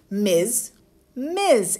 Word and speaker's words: Ms: so first of all let's work on the pronunciation ms/ms it's what I call a heavy s sound almost leaning towards a Zed or a Z sound MS repeat after me ms sounds great miss miss and mrs.